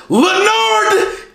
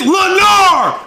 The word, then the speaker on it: Lenar: Leonard, get out of my class. It's not fucking Leonard. It's Lenar. No D at the end.